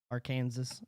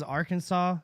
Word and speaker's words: Arkansas: to talk about Arkansas's our Kansas Arkansas okay first off why is Arkansas said as Arkansas and Kansas is spelled is said as Kansas because that's stupid it makes no sense talk about vaccine passport